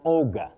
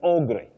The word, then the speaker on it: ogre: Cynthia Lima, you say an ogre, not a bet. When we were in school, we may have heard of the aug, but it's o not a is the spelling.